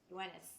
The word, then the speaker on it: Yoenis: And then we have how do you pronounce his name? Yonis Tellez? Tellez? Is that Yoenis correct? Tellez. Yoenis. There you go.